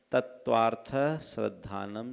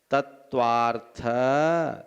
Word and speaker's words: तत्त्वार्थ: तत्वार्थ श्रद्धानम सम्यक दर्शनम, इस उच्चारण में थ में आधा स नहीं बोलना है। तत्वार्थ, थ पर हल्का सा विराम और स्ट्रेस जोर देना है।